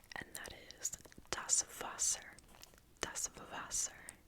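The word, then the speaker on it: Wasser: and that is Das vaser dasas remember that the the W is pronounced like a V dos foser foser voser if you want sparkling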